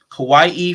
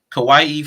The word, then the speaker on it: kawaii: website i think it's kawaii for the culture it's like spelled like hawaii but with a k on it kawaii for the culture so